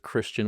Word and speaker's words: Christion: It's just Christian with an iOS on all the socials.